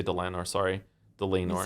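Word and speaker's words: Dlanor: It's said Delanor in Delanor. Yeah. So like lame because she's lame.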